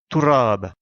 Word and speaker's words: تراب: En arabe, poussière se dit turab, comme indiqué à la droite de l'écran.